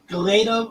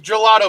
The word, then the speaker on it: gelato: crystals oh boy galeto uh what is goleto machines uh even though i pronounced it for you it is gelato machines that is a joke